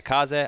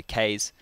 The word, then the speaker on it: Kaze: is they have uh kaze i believe that's how you say it yeah japanese for wind the more you know we would just say case but uh he's playing